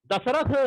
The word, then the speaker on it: दशरथ: या शुद्ध रूप है दशरथ, लेकिन जल्दी जल्दी में हम बोलते हैं तो दशरथ इस तरह से उच्चारण करते हैं, जो कि गलत है। दशरथ शब्द जो है वह शुद्ध है।